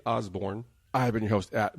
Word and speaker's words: Osbourne: The King of Prussia, Osbourne, is still here with us. That's like the car, and Osbourne like Ozzy. Yep, just like Ozzy, spelled the same way.